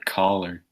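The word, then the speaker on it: choler: back you know oh I looked up that word color it's pronounced collar it means a anger or irritability right now god the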